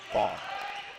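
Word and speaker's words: Ban: Funny thing about James is he let me know that it's spelled B-A-N as the Raiders get another point here, but in Croatian they pronounce it Bond.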